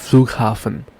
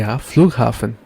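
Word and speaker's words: Flughafen: means train station and then we have the flugen the flugen the flugen means airport and then we have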